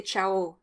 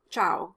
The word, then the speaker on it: ciao: to french people and the o is stressed at the end of the word as opposed to the ah in italian because the stressed syllable is the last syllable in french so the french say ciao not ciao like in italian and by the way